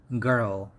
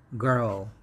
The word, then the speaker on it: girl: long vowel sound and in american pronunciation this word has r in the middle so the pronunciation is girl girl however in british it